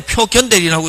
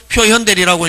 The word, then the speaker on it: 표현대리: 옛날에는 표견대리라고 읽었습니다. 근데 지금은 표현대리라고 읽는데 상대방 입장에서는 보면 요 대리인이 권한인처럼 보여지고 권한이처럼 나타나고 나타나는 데 대한 표상 근거 책임은 누구한테 있다?